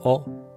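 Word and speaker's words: を: of notation the particle or is O rather than w o w o has a historical basis but the modern pronunciation is O and W O is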